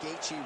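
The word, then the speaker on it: Gaethje: He even pronounced Gatei, right?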